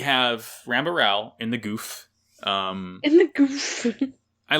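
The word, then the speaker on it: Gouf: rambar Ral in the Goof um in the Goof I love yeah it's pronounced goof as it turns out not gal or Gul it's goof I love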